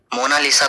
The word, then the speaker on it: Mona Lisa: कोई मोनालिसा रहता है लेकिन इटालियन में इसकी करेक्ट प्रनंसीएशन है मोनालीसा इसका मतलब होता है